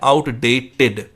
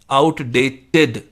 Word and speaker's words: outdated: जब भी ईडी आता है किसी भी वर्ड में, और ईडी से पहले जब टी हो, या जैसे यहाँ पर है आउटडेटेड, तो उसकी प्रोनाउंसिएशन होती है इड, इड, आउटडेटेड, टिड। आउटडेटेड नहीं होता, जैसे सेलिब्रेटेड नहीं होता,